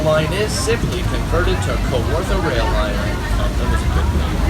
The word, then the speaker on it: Kawartha: Kawartha is actually a native word, and it is pronounced Kawartha.